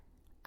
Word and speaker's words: オーブン: While the closest Japanese sound to "ʌ" is "ア," because it's spelled with an "o," it became "オーブン" rather than "アーブン."